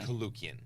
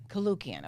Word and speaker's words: Koulloukian: I am excited to be interviewing, and you have to pronounce your last name for me. Koulloukian. Koulloukian.